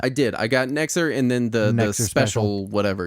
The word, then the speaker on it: NEXZR: Nexer. You pronounce it Nexer, so I'm just going to pronounce it that way, but it's spelled... That's the best I've been able to go with.